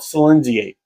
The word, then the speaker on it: Silinxiate: Now, I actually had to go on to Google, type in the name, and actually push the push the speaker button to figure out how to pronounce it. But from what I could tell, it's called Silinxiate.